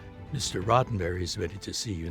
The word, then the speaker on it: Roddenberry: here to see uh Mr Rosenberry and she said it's rotenberry and that got me